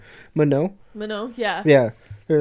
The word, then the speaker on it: Manon: Manon.